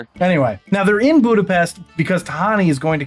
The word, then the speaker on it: Budapest: And before anybody says it's actually Budapestt, that's how they pronounce it in Hungary.